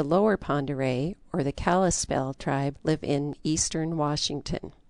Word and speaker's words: Kalispel: The Pend d'Oreilles called themselves Kalispe, and that became mispronounced into Kalispel.